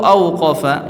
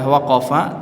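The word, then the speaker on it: وقف: imam ibnu faris mengatakan wala yuqolu aqofa ya dan tidak diucapkan aqofa ya artinya nya ee yang masyhur yang dipakai adalah waqofa tidak ee disebut dengan kata auqofa ya waqofa ini yang masyhur bukan dengan auqofa wazan af'ala ya tidak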